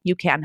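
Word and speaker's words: UCAN: you know berries or things like that that you can oranges for example um that you could just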